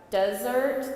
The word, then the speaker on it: desert: the second time deser we're not going to pronounce the r in the middle we don't like RS not in the middle of words and then the T